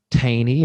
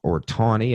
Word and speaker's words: Taney: banks and individual states Roger B Taney or tawny I've heard it pronounced both ways this is jackson's secretary